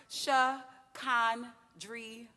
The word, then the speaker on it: Shakandria: My name is pronounced Shakandria. No silent letters, no accents, preferably pronounced with the drawl of a good old New Orleans accent.